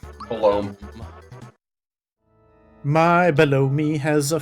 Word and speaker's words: Belome: So, the boss that is normally down here in Kero Sewers, how do you pronounce their name? Belome. Belome.